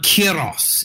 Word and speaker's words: Kairos: So Kairos is the pronunciation.